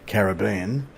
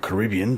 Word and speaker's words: Caribbean: part of the world being the Caribbean or Caribbean depending on your preference for pronunciation here in Australia we call it the Caribbean but other parts of the world it's the Caribbean I don't know which